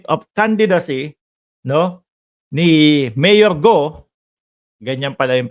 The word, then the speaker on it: Guo: candidacy no ni Mayor go Ganyan pala yung pronunciation niyan sabi ng bubwit natin Mark Mali ka ng ah pronunciation ung apelyido Hindi guo go silent you Ayan Yan po